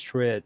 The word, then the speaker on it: Tritt: a great cover version you said travis tripp's name wrong i say trit or twitter travis travis